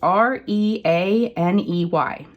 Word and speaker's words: Reaney: So Hiroko Rainey or Riani. It's Reaney.